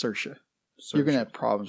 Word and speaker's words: Saoirse: young Irish immigrant Ailish Ailish yeah and it's Saoirse so you're gonna have problems with these Oh hourish pronunciations oh I'm going to butcher it it's